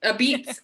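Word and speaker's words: apizza: a at the beginning first of all it's pronounced a piece right a beets a beet a b right a b that's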